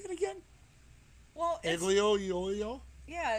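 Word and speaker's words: aglio e olio: you how do you say it again well ugly oh yo yeah it's something in oil it's it's they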